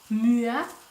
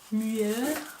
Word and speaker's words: MUA: Moi, je vais le dire. MUA. MUA. La prononciation en français. MUA.